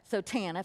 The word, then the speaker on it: TANF: There's no I in there, but you got to be able to pronounce the acronym somehow. So TANF.